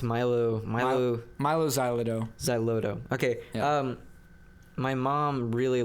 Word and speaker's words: Xyloto: How do you pronounce Milo Xyloto. Xyloto.